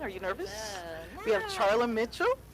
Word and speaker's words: Charla Mitchell: you nervous we have Charlie Mitchell am I saying it right you are yeah I'm gonna ask